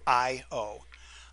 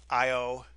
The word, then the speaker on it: Io: nearness to the planet IO it's spelled and pronounced the same way I owe I owe Europa these are both